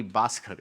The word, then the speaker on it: Baskhar: is spelled in Lucky basard it is not b h a s k a r it is written to rhyme with lucky bastard and that's what the